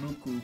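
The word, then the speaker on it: MUCC: It's a Japanese song, and it's by a band called Muck. Or in Japanese it's pronounced Muku, but I just say Muck.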